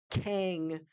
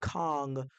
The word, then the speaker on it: Kang: So you admit that's the right pronunciation. Yes, Kang the conqueror is the right pronunciation. However, Kong, it's what's mostly been said around everywhere, the